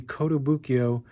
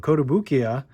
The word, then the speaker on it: Kotobukiya: We have the Kotobukiya, oh my god, I said it wrong, Kotobukiya Bishoujo figure.